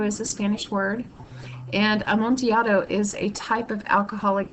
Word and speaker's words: Amontillado: and notice that it's the Double L is pronounced like a y as it is with like tortilla chip that's because am monato is a Spanish word and am monato is a type of